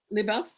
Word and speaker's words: Любовь: Now, this will you pronounce it's Любовь. Lyubov? Am I saying it Yes. right? Okay. Любовь Lyubov. Lyubov?